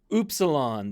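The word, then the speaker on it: upsilon: small caps T TOA oops Salon this is your u sound oops salon and notice the difference between the new which has the pointed that's the n Sound the new um versus the oilon which is that rounded oilon s sound okay that u sound Fe this is the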